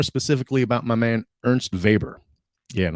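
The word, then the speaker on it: Weber: about my man Ernst vber yeah and I'm going to pronounce his name like that too VOR um here's a day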